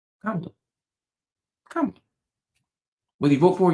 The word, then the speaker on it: Kamala: They learn to pronounce Giannis Antetokounmpo. And you telling me they can't say Kamala? Kamala. Kamala.